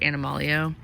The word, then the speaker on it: Animalio: It's Animal EO, so stands for Animal Essential Oil, pronounced Animalio.